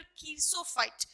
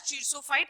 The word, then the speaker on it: xerophyte: as कीरिसोफाइट, चियोसोफाइट और कीरसोफाइट. Basically इसको हम कीरसोफाइट ही बोलते हैं, बट few people also pronounce it एज चिरसोफाइट in other regions और अदर कंट्रीज.